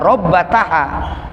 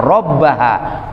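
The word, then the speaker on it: رَبَّهَا: dalam sebagian riwayat hadits Bukan dibaca robbataha tapi dibacanya robbaha menghilangkan huruf tak tapi maknanya sama robbataha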